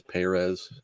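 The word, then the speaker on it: Pérez: do you know that he likes the the fastest on the first syllable of his last name the proper pronunciation is perez hey raid it just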